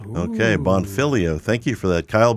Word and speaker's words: Bonfiglio: I'm saying it right bonfilio bonfilio okay the g is silent silent G okay bonfilio thank you for that